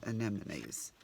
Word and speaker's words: anemones: call them an an now see I can't say an which is what I've grown up saying but of course now I know it's not it's anemones but I still have problem saying it right let's just do these